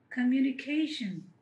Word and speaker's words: communication: Communication ka you ni cation. So stress ఎక్కడ పడింది అంటే ఫోర్త్ సిలబల్ మీద.